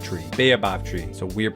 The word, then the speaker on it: baobab: For the third choice, we got the option of the savanna, which added the ostrich, termites, and the bababoa tree. Baobab tree, so weird pronunciation.